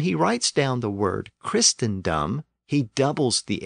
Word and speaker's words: Christendom: is three syllables so the first syllable tend tended to be pronounced quick and short and that might explain the difference that orm noted between Christ and Christendom this rule also explains